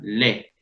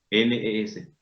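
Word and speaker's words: les: la E suena plenamente cuando ella está acompañada por una S en la palabra le, L-E-S, le, cuyo significado es los, las.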